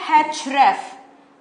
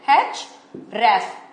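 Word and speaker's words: href: यूज समझ में आया सो पहला है हेच रेफ इसे कैसे प्रोनाउंस करते हैं चच सेपरेटली आर ई एफ इसे ऐसे प्रोनाउंस करते हैं हेच रेफ ओके इसे प्रोनाउंस करते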